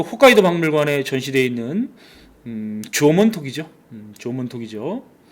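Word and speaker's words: 縄文: 문화는 뭐라고 부르냐 바로 조몬 문화라고 부릅니다 조문이 조문이라고 하는 것은 일본 발음인데 한 자로는 승문 새끼줄 승 문이 문자를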